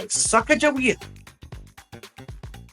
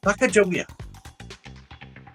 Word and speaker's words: Sacagawea: They were guided by Sacagawea. Sacagawea. At least that's the way I pronounce it.